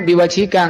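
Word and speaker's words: بوجهك: Nah, dan seperti ini ya dibacanya biwajika.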